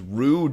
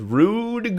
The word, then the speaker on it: rue: and I know that the correct pronunciation of Rue uses the French R but I'm incapable of pronouncing the French are and also I bet if you did that it wouldn't rhyme so I'm going to stick with rude goo uh so okay the